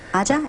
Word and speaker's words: Aja: Aja, am I saying it right? No, that's correct.